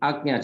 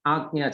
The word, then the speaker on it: Ajna: It is actually Ajna chakra. That is why in Sanskrit and Hindi, when you write letters, it becomes easy for getting the clear pronunciation. Many a times in English it becomes difficult, but we have to read it here as Ajna chakra.